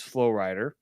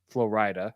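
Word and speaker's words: Flo Rida: a friday and saturday night friday night was flowrider florida i should say that's how his name is pronounced he's a big star and a lot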